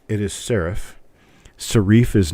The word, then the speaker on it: serif: little points on the ends of the letters sharifs but it is not shif it is sarif Sharif is not even an accepted pronunciation of the word and anyone who pronounces s r i f as shareif is wrong it is sarif I learned it